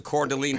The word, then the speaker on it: Coeur d'Alene: I believe it's pronounced the Coeur d'Alene Press.